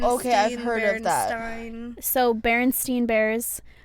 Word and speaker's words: Berenstain: Oh, Berenstain, okay, I've heard of that. Berenstein. So Berenstain Bears, we think it's spelled Berenstein like Stein, but it's spelled Berenstain like Stain.